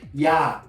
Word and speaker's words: ja: For example, in the word yes, ja, J, A. So J is always pronounced as a Y.